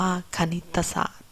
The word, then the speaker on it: คณิตศาสตร์: ราชการ ภาพยนตร์ อ่าน ว่า ภาพยนตร์ คณิตศาสตร์ อ่าน ว่า คณิตศาสตร์ เรา จะ เสร็จ แล้ว เดี๋ยว เรา มา